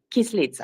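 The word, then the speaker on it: Kyslytsya: UN, and I don't know exactly how to pronounce his name. Sergey Kislitsa. Sergey Kislitsa. Kislitsa.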